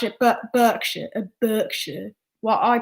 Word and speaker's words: Berkshire: but people would pronounce it but berkshire and berkshire well i pronounce it berkshire because that's how it's pronounced